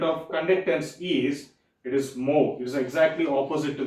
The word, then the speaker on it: mho: is, SI unit of conductance is, it is mho. It is exactly opposite to this one. It is exactly, the symbol, if you see, the symbol has been exactly opposite. It is pronounced as mho.